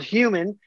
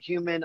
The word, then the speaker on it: Hu3m3n: It's called Human, but of course you gotta spell it weird. So it's like H-U-E, like hue as in color, color, men like plural, but of course the E's are threes. So it's H-U-3-M-3-N.